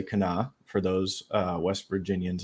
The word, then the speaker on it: Kanawha: Charleston um on the Kanawha River it's spelled kanawa but you say Cana for those uh West